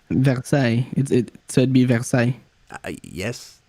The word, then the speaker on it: Versailles: It is pronounced with a French accent. So is it Versailles with a French accent? Versailles.